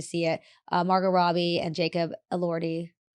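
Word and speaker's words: Jacob Elordi: Marggo Robbie and Jacob Allorti.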